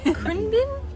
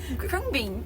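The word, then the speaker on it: Khruangbin: for airplane yeah be I looked it up CR Bean CR Bean CR bean bean everything in Thai is like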